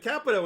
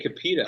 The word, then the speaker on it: Capito: the first time that's the first time you've ever pronounced her name right thank you thank you you usually say kapita i know capital capital